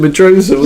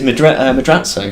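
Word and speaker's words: Madrazo: Yeah, we've always called him Medroza. Yeah, I know, but look, when you actually look at it, it's Madrazzo.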